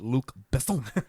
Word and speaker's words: Luc Besson: But it's pronounced Luc Besson.